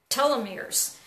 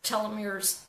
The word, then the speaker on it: telomeres: well in it and specifically in a fun pronouncing this correctly the telomeres te LOM ER e s and those are